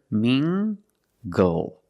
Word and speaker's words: mingle: Tangled let's look at this word mingle using the nasal sound and the hard G together mingle mingle mingle is a verb it